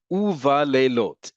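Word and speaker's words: וּבַלֵּילוֹת: In front of the letters bet, vav, mem, and pe, and those with the silent vowel becomes u. U-va-lelot, and in the nights.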